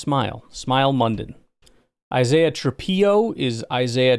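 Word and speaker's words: Smael: Smail Munden, I am pleased to inform you, Georgia linebacker, is actually pronounced Smile. Smile.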